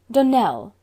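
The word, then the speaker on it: Donnell: would set it right Donell Accent on the last syllable and sent Claire on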